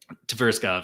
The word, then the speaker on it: Tverskov: Tverskov, yeah.